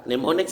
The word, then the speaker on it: mnemonics: in her macron rabies rabies access pneumonics pneumonics silent letter mnemonics is that kind of strategy or technique that